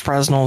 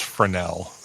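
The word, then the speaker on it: Fresnel: has the smallest first Fresno Zone it's frenel there's no you don't pronounce that sorry sorry sorry sorry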